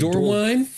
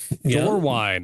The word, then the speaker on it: Dorwin: Did I pronounce the Is it Dorwine? Dorwine, okay. So, not Dorwin.